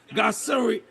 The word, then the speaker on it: gasseri: that, wait a second, it has the lactobacillus gasseri. Oh boy, I'm on TV. I hope somebody listened so I pronounce it correctly.